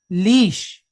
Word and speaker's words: leash: So how do we pronounce this syllable? Leash, like what you walk the dog on, leash.